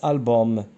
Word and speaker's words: album: هنا عندنا U M bien sûr ça se prononce هذه راه كتكتب album mais ça se prononce album هذه ROM donc je